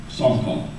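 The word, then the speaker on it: שחה: The term that's used in the Old Testament for worship is the word, I'll spell it to you, it's S-H-A-C-H-A-H, which is pronounced Sarkal.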